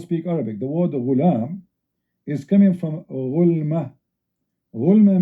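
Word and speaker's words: غلام: Al-ghulam بضم الغين, which means you say ghulam.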